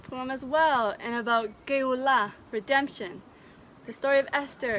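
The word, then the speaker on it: גאולה: the Hebrew language, is the emphasis is usually on the last syllable. So instead of Geulah, it's Geulah.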